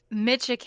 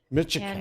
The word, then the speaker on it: Micciche: It's Micciche, and Micciche. it's very Italian.